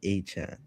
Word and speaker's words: Achane: Travis Achane.